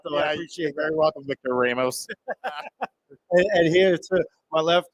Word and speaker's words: Ramos: mean to correct you but I believe it's pronounced Ramos Ramos yes thank you yes yes my my